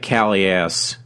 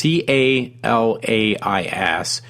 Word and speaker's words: Calais: It says adds to growing concerns that, if I'm pronouncing it right, it looks like Caleares. It's Calais, has reached levels beyond control.